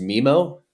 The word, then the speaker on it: Mimo: Is it pronounced Mimo?